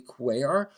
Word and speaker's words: Cuellar: Lastly, Trump controversially pardoned Representative Henry Quayar. If you want to learn more about this, his name is spelled C U L L A R.